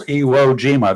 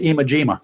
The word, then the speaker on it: Iwo Jima: Or a lot of folks who couldn't pronounce Iwo Jima, they called it Imajima.